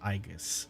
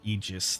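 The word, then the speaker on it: Aegis: Next node is this boy, Ancient Aigus or Eegis, depending on how you want to pronounce it. Both work.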